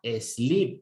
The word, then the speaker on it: sleep: Cuando se juntan dos como en el caso del verbo dormir, que se escribe S-L-E-E-P, se pronuncia sleep. O sea, la doble E se convirtió en una I un poquito larga, sleep.